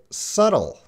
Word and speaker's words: subtle: And again, we have that B, and when you see that B, you got to be very careful, because that B is silent again. And this is pronounced subtle.